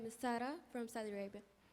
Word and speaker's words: Sara: they can hear you it's the same as Sarah but we pronounce it as SAR and and and your